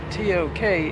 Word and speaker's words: Tok: Even though it's spelled T-O-K, it's pronounced Tok.